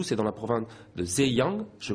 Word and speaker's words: Zhejiang: Vous venez de Wenzhou, c'est dans la province de Zhejiang, je prononce correctement. C'est ça, Zhejiang.